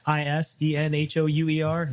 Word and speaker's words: Isenhouer: It's Isenhouer. Nothing like the president.